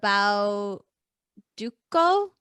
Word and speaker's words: Bauducco: the panettone uh the bao duco i think it's a hard c the best that's the